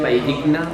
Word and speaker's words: Valldigna: Valldigna. La Valldigna.